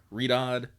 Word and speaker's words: Riyadh: She's gonna write sands of how do you pronounce that? Riyadh.